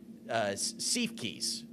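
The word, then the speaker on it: Siefkes: And they ended up going with Sam, I want to say his name right, Seifkis.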